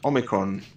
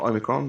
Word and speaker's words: omicron: p and he goes well it is omicron not omicron because uh you need to brush up on your ancient greek and there's two letter o's in the ancient greek alphabet there's